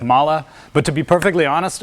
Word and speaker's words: MAHLE: founders of the company it's pronounced with a soft a at the end like mala but to be perfectly honest a big part of my business it just pronounces it Molly because that's so how